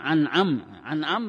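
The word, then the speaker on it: أنعمت: Siratal ladzina an'am bacanya.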